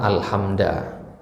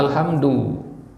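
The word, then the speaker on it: الحمدُ: dia membaca suatu kata alhamda ya Yang satunya baca alhamdu ya yang benar adalah alhamdu alhamda ini salah ya tapi yang membaca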